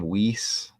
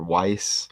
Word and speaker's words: Weiss: saw the last stream how do you say the name name whis or Weiss or was Mary is the first name I looked it up it said like was I don't know I guess there's different